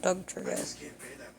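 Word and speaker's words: Dugtrio: No, not Doug trio. Apparently, I've been saying that Pokemon's name wrong. I thought it was do trio, not do. Oh well.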